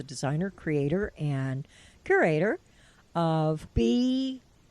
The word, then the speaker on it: BSWANKY: who is the designer, creator, and curator of BSWANKY. Correct. I said it right. You said it right. I said it right. BSWANKY.